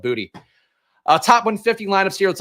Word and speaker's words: Boutte: Also, I think his name is pronounced Booty. The announcers keep saying it. When he was coming in, I'm pretty sure people were pronouncing it Boutte. So I'm not sure what happened here. But I might be saying Boutte and making it sound pretentious when he is, in fact, calling himself Booty.